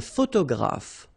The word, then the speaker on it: photographe: So here PH and here PH. Pronounce it like F, f, f, f. Photographe. Okay. Same thing here. This you don't insist on it. You only pronounce this f at the end.